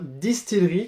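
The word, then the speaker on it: DSTLRY: de consonnes et le Y à la fin, Distillery, comme on m'avait dit dans Comics Co, ça se prononce comme ça, donc maintenant je sais, merci à vous pour l'info.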